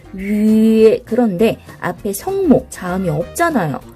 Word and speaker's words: 月: 위에라고 발음하죠. 위에. 그런데 앞에 성모, 자음이 없잖아요. 그럴 땐 어떻게 한다고 그랬어요? 그쵸? 이렇게 Y를 붙여. 그리고 점을 떼고 이렇게 표기를 하는 거예요. 이렇게. 그래서 발음은 위에 이렇게 발음을 합니다.